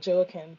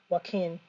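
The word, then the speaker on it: Joaquín: and by the way this is Spanish pronunciation q-u but we you know a lot of Americans will call it uh joachen but it's really Joaquin and um more importantly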